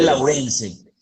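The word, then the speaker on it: Lawrence: escribe ch exactamente de laurence o laurence David herbert laurence laurence lorence es laurense para que lo tengan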